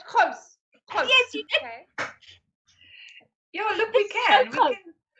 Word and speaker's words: Gouws: I said Gouws.